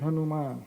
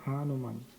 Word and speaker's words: Hanuman: Hanuman with inconceivable Healing Touch Hanan and the pronunciation is Hanuman not Hanuman Hanuman it's a long a there okay so